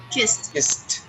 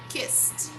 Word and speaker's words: kissed: verb in the past kissed kissed we go from s sound to t sound so kissed kissed oh